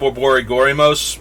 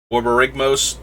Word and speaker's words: Borborygmos: It's apparently called Borborygorymos. I'm mispronouncing it horribly because I mispronounced his name horribly. Borborygmos, something like that.